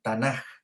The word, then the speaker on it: Tanaj: testamento era conocido como el tanaj ya que se escribe tanak ya con acá y ésta estaba básicamente